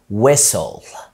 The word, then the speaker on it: whistle: في كلمة زي whistle whistle يعني ما بعرفش اصفر.